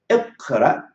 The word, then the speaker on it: اقرأ: Also, I want you to pronounce it with me. اقرأ, اقرأ, اقرأ, and اكرم, اكرم, اكرم, اكرم.